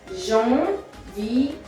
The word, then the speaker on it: janvier: E-R-E, janvier. Janvier. Remember, ER at the end of a word is always E in French.